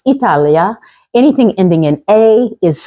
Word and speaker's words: Italia: say her because it Italy uh actually pronounced Italia anything ending in a